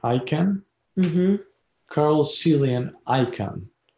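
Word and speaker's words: Icahn: yes yes all right next on the list card you pronounce his last name i can carl cillian icon is the last name spells i-c-a-h-n yes he incarnated at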